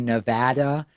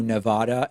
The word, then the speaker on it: Nevada: I made an effort to say Nevada and Hawaii as opposed to Nevada and Hawaii and that's